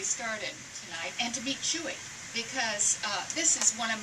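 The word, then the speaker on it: Chouxie: Well, Chewy, we thought, was C-H-U-O-U-I, just pronounced Chewy. C-H-E-W-E-Y, but in fact it's something much more, what is it, Herb? It's C-H-O-U-X-I-E, like pot of shoe.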